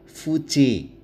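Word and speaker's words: fugae: Fuga fuge artinya lari. Perhatikan cara membacanya. Fuga dibaca G karena diikuti A. Fuge dibaca J karena diikuti AE yang dibaca E.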